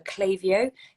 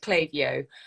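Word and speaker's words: Klaviyo: further a big thank you to our sponsor clavio they've been sponsoring us for about 18 months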